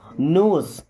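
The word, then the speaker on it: knows: everybody नोज about that, देखिए everybody, everybody का मतलब होता है सभी लोग, एवरीबडी मीन्स सभी लोग, नोज, देखिए यहाँ पे के और डब्ल्यू साइलेंट है, क्या पढ़ते हैं, नोज,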